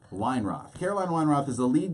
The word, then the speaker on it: Weinroth: Caroline Weinroth. Weinroth.